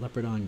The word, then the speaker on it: Leopardon: into Leo part on the way it's spelled makes me want to call it leopard on but the way he weighed spider-man says calls his name he says leo pardon so and Neil Parton